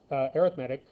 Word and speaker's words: arithmetic: So an arithmetic, it looks like arithmetic, but it's pronounced arithmetic.